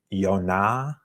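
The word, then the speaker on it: יונה: that um pronunciation and jonas would in hebrew be yonah yeah with that um with the the emphasis being on that second symbol but in greek it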